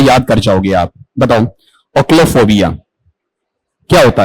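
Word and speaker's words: ochlophobia: क्या है ओशो नहीं है ओ्लोफोबिया बताओ क्या उच्चारण है इसका ओक्लो फोबिया ठीक है अब आप मुझे यहां पर ये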